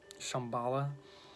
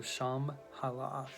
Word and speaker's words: Shambhala: Enclave you know this Shambhala maybe it's pronounced because it has an H in it after the B so sham halah but yeah the first